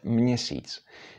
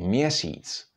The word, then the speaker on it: měsíc: Now, in combination with m, again, it's pronounced mě, or mě, like, for example, in the word měsíc. But very often you would hear people say měsíc, so don't worry about it very much.